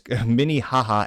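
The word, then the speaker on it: Minnehaha: The Avenue name 955 Miniha Minihaha that's really it is Minihaha Avenue West St. Paul Minnesota which I purposely mispronounces a slight to that we cocked state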